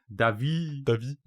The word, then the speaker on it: Davis: No, I'm French, so I have a clown Uncle Davy. David. Clown Uncle David. But it's spelled Davis. So if you saw it on paper, you could be forgiven for thinking it was Davis. Yeah.